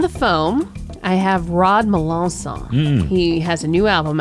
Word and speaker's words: Melancon: You know what also is nice is hearing my name pronounced perfectly. Oh, the correct way? For Rod Melancon.